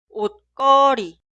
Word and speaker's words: 옷걸이: percha se escribe así, pero se pronuncia 옷걸이, 옷걸이, 옷걸이.